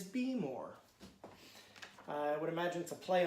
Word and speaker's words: Behmor: doing some research and heard the pronunciation be more and Baelor but after having the roaster in my hands I've decided it is be more I would imagine to